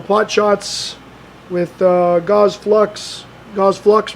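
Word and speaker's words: Gauss Flux: Gauze Flux rhymes with sucks.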